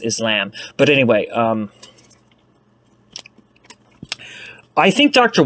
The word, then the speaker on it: Islam: something that comes from Islam. Yeah, well, it's actually pronounced Islam.